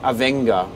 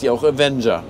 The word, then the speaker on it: Avenger: Daniel dit Avenga, mais les gars, si une variété s'écrit comme Avenger, alors elle s'appelle aussi Avenger.